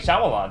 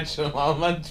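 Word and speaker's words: Shyamalan: don't like it m shamal twist you don't even say his name right it's shamal yeah so anyways there's a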